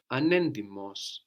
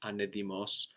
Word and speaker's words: ανέντιμος: that, Dishonest, we have anendimos. Anendimos. Ανέντιμος. So again, anendimos, that's spelled with a T. We have NT there. giving us an ND or D sound, anendimos, anedimos.